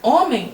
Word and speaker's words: homem: O H não tem som em português. Quando você fala homem, você nem se lembra do H, você simplesmente lê do O para frente.